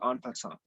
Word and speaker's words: en passant: So the last rule, the last move is called en passant. So I wrote it in the chats. That's how you spell it.